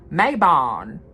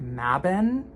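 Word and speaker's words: Mabon: like in the midwest as an English speaker I want to say Mayon like as a total like I don't know why I don't know why um it's I think pronounced mabin like but there's some holler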